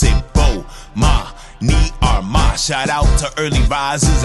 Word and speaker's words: Armah: I'ma say my name so you can pronounce it. Armah.